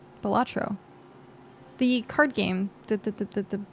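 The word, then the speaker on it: Balatro: Uh, it's not Bolero. Bolatro.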